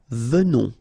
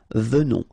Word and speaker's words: venons: Okay, so final S not pronounced, and then remember that you pronounce this E like a the, venons, okay, O-N in your nose, on, venons, nous venons, all right,